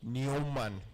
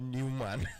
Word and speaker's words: Neumann: Was in Germany, I learned that it's pronounced Neumann, not Newman. No. Neumann. It's pronounced Neumann. Neumann and Esa, not Newman.